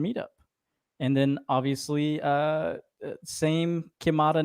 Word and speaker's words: QiMata: QiMata Technologies.